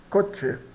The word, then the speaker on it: coche: Então aqui o exemplo clássico pro ch, a palavra coch, né? que nós pronunciamos cot coche. C, né? Igual ao ch de chip cot, né?